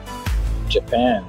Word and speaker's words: Japan: Pas oublier, c'est deuxième nom qui est accentué. On va le dire? Japan. Merci. M'tapé oui, mais m'a serré le bout. Japan, parce que c'est pen qui a un accent.